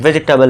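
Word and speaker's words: vegetable: इसका correct pronunciation वेजिटेबल है।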